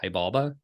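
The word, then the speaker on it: Xibalba: and the underworld of I think it's Hibal. Hibalba. I I'm not I think that's how an said you should pronounce it in Spanish and many more. Chi balda. Isn't an X like a chi like a Anyway, sorry.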